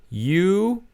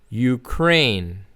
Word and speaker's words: Ukraine: So the pronunciation is Ukraine. Ukraine.